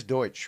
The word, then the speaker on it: Deutsch: in the world of the world it is Deutsche right you do pronounce it in that absolutely yeah yeah that's